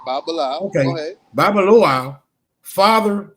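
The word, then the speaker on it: Babalawo: In the Ifa oracle, for example, a trained priest, a Babaloa, whatever, is how you say it. Yeah, you got it right. Babalao.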